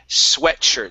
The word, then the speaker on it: sweatshirt: Okay, let's go to the word sweatshirt. So this is a short E sound. Instead of sweatshirt, it's sweatshirt. Okay.